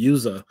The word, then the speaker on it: yuzu: it is USA y-u-z-u could have swore the other day I looked at I thought it was Yazoo but it's actually yuza is the Nintendo switch